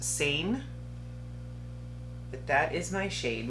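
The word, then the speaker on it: Seine: what shade I have s-e-i-n-e I want to say that's pronounced sane but that is my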